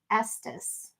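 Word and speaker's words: Estes: It's pronounced Estus. Oh, okay. Estus Park.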